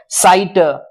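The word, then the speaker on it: sight: जी H silent हो जाता है, वहां जी एच का कोई उच्चारण नहीं आता।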